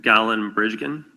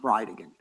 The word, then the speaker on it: Bridegan: It's Jared Gallen Bridgen and I'll represent to you that it's pronounced Bride again.